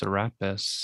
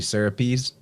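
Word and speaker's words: Serapis: what did they say i've heard it pronounced seraphis therapist therapist i think the greekish way would be syrupy's i'm making the e sound but there's all those pronunciations are considered correct what you how you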